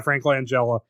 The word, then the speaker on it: Langella: um frank franklin angela is that how you pronounce his last name yeah frank langella yeah he was a good skeletor and for